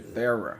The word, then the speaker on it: Thera: Okay, Thera. That's how you pronounce it.